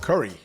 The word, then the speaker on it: Khuri: Uh, today I have the privilege of speaking with Mark Curry. Yes, pronounced like Steph Curry. Mark Curry from SMK Capital Management out of Bend, Oregon.